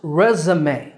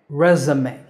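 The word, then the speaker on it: résumé: E's, and it's pronounced resume in American English. Re-za-me, resume. In British English, it's pronounced resume. Re-zu-me, resume. So American, resume, and British, resume.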